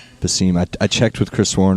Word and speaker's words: Besim: no you're not how do I say it the seam the seam I checked with Chris Warren before I came